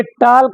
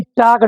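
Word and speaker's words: talk: इस तरह में गायब हो जाता है ये साइलेंट हो जाता है। ये टॉल्क नहीं टॉक पढ़ा जाएगा।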